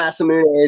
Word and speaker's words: Masamune: Masamune is the proper way, but yeah, Masamune is his last name.